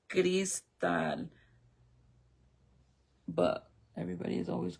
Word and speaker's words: Crystal: It's not Crystal. It's Gristal, but everybody has always called me Crystal. But I think they do it because my name is spelled C R Y S T A L.